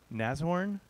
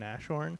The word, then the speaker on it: Nashorn: about isomorphic javascript with nazorn i just learned how to pronounce it i was pronouncing with two h's and a sh sound nashorn which is totally incorrect um anyway yeah i